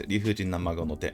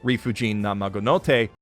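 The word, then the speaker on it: 理不尽な孫の手: So as most of you know, his name is Rifujin na Mago no te. The no is a particle, so please don't pronounce it like Mother's Basement does. Rifujin na Mago no te.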